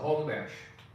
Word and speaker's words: Homburg: Lee went through many changes in her life, and she was born Lisa Lotta Homburg. And the way they pronounced it in the Rhineland, Lisa Lotta Homberg.